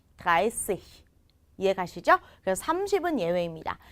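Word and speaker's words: dreißig: 드라이찌히가 아니라 드라이시히.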